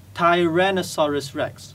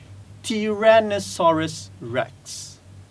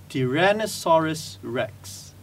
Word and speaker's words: Tyrannosaurus rex: dinosaur as t-rex and some of us actually pronounce it as Tyrannosaurus Rex which is wrong the correct pronunciation would be Tyrannosaurus Rex Tyrannosaurus Rex repeat after me chiren asaurus rex that's it